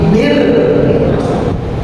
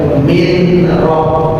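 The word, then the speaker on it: مِن: Bacaan idgham bila gunnah artinya tidak boleh dibaca mim tapi mir. Nah, ini langsung mil langsung tidak boleh min roh tidak boleh tapi mil begitu.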